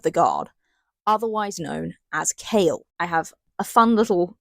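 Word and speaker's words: Chaol: And yet it's pronounced K A L E.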